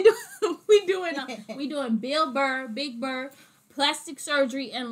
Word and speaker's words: Bill Burr: we doing we're doing bill burr big bird plastic surgery and lotion i said it right so don't bill bird this time guys that's it right